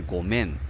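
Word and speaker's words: ごめん: 发音呢是ごめん，所以其实有一点点声调上的不太一样。4 万石中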